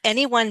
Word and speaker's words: anyone: But anyone does happen to have three syllables, anyone. And in those three syllables, we are going to stress the first, right?